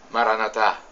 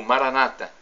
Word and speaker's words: Maranatá: E agora eu clamo no dialeto de Jesus, o aramaico, Maranatá, como dizemos nós católicos, ou Maranata, como dizem nossos irmãos separados, os evangélicos ou protestantes, não importa.